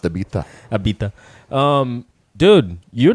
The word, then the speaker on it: Ibiza: I keep watching all these Ibiza highlights.